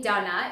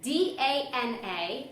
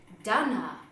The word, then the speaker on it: Dana: So for those of you who don't know, my name Donna is spelled D-A-N-A, and in America that's typically pronounced Dana, but I pronounce it Donna. Why? Well, that would be because of my Czech heritage.